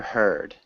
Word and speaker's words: heard: That's a tricky word to pronounce because if you write it just in the present tense, it's here, and in the past tense, it changes the sound of those EA.